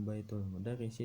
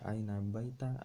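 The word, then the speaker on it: بَيْتُ المُدَرِّسِ: Aina baitul mudarrisi, tidak aina baita, aina baiti, tidak.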